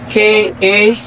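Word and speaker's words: K'a: Tradition says the name of this instrument's bass, I'll spell it first, K-A apostrophe A, ka.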